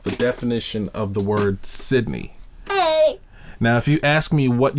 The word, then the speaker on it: Cydney: It's pronounced Cydney. It is the Everyone says my name wrong.